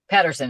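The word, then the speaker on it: Pettersson: Patterson, Elias Patterson.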